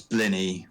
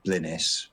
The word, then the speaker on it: blini: No, that's blini, which has got a silent S on the end, so it's spelt blinis, but it's pronounced blini. It's like penis.